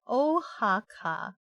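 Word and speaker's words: Oaxaca: why what you're laughing so hard you mean ohaka ohaka what does that mean ohaka you thought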